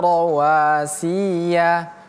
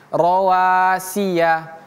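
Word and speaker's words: رواسي: Kemudian rawasi ini si dan ya pendek ya tidak boleh kita baca rawasiya tapi rowasiah rowasiah stop rawiah langsung pindah ke huruf selanjutnya rawasi syikhotin syikhin waa'alna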